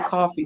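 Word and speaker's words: Ko-fi: fi Kofi or coffee it's pronounced coffee but it's spelled Kofi so my point is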